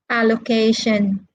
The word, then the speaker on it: allocation: And then the three syllable verbs are stressed on the first syllable, like educate, allocate, all right? And the four syllable words are stressed on the third syllable.